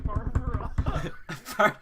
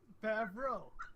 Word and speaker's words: Favreau: There's no R before the E. Well, how do you say it? Favreau? You just added an I. Favreau.